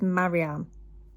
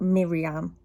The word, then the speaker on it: Mariam: I think it's Mariam, not Miriam.